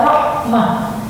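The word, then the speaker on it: رحمة: Nah, bila mana ada ini, maka fathatannya tidak boleh diganti fathah, namun wajib dibaca sukun, sehingga diucapkan dengan Rabbana la tuzigh qulubana ba'da idh hadaytana wa hab lana min ladunka rahmah ya, min ladunka rahmah.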